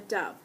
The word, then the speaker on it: dove: Saya wrote about a beautiful bird called a dove. Dove rhymes with love, you know.